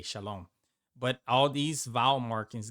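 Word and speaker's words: שלום: So this is shalom. M. The mem is just an M. Shalom. That's how you know how to pronounce this perfectly.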